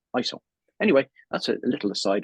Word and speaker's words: ISO: So he said it's the International Organization of Standards, but in Ireland, they kind of call it ISO. But the true pronunciation is ISO.